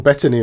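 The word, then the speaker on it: Bettany: own thing wi Vision next I assume Paul betany will be playing him oh you got his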